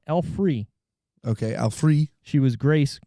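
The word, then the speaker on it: Alfre Woodard: mitchum is preston rhinelander alfred woodard woodard woodard is grace oh i said it wrong alfree okay alfree she was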